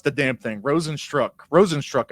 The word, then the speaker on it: Rozenstruik: Rozenstruik, I think is how you pronounce it.